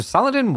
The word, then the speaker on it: Saladin: But it's like everyone I feel like every time I've heard it pronounced it's always Saladine.